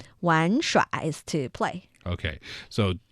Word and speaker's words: 玩: And then var has two different possible pronunciations, right? Yes, 玩. But I'm giving you the northern 儿化音 version of it. The character itself is pronounced 玩. 玩耍 is to play.